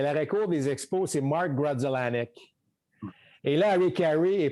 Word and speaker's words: Grudzielanek: pas capable de prononcer, parce que c'est sûr que si tu lis Grudzielanek, c'est pas nécessairement de la même manière que ça se prononce. Alors ça, c'était... Yes, he would call it Griseldiak.